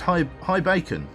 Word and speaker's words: Ibacon: Ibacon is pronounced high bacon.